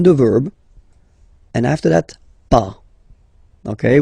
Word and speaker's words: pas: Okay, so first ne, then the verb, and after that pas. Okay, we write it PAS, okay, but as usual final S is not pronounced, so it's pas.